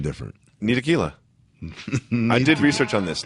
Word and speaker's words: Ntilikina: I love how everyone pronounces his name different. Ntilikina. I did research on this. Ntilikina.